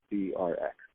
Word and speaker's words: CRX: So people will ask me, is it pronounced Crix or Crux or Crooks or Crack? But it's just 3 letters, the CRX.